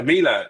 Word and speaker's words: Mila: outside of UNiK360, I know, is it MilaQuote? Is that how you say it? Yeah, Mila, correct.